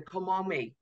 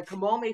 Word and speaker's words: Kamome: morning is it's going to be called the komome festival okay and it will take place in